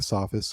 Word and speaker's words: Sophists: about the Sophists, or some people pronounce it Sophist. I've heard it either way. I think either way is acceptable. Okay. But Is it an Omicron or an Omega? that is an Omicron. So it's Sophists.